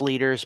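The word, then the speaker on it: Lueders: Early August looks about right, and it is pronounced leaders, by the way, per the Wikipedia page.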